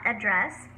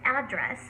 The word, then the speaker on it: address: So the first syllable has the stress. It's not address, which is the verb form. It's address, which refers to a physical location of a building or a residence.